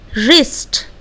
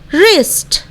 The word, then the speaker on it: wrist: बिल्कुल उसी तरह रिस्ट। Okay, So let's pronunciate these words once again. Right, wrong, wrist.